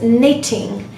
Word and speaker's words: knitting: the first word is knitting and it's not committing so there's no sound of K at all because K precedes n so it's supposed to be silent similar is the case